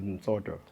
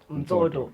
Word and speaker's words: Mtsodo: Let me correct you, my surname. How you pronounce it is Mtsodo. Mtsodo.